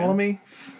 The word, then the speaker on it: Ptolemy: When I was writing out the fact board, I almost just omitted the P because it makes no sense.